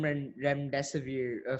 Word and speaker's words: remdesivir: So you've used the term remdesivir. Forgive me if I butchered the pronunciation.